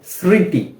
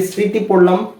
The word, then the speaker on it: স্মৃতি: সেইভাবেই বা ওই নিয়মেই এই যে স্মৃতি এখানেও শব্দের প্রথমেই ম ফলা ছিল এজন্য আমরা ম এর উচ্চারণটা করিনি এখন আরেকটি শব্দ দেখা